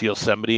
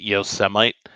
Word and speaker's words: Yosemite: I also remember him not being able to pronounce Yosemite and calling it Yosemite over and over and over again, I didn't know multiple that.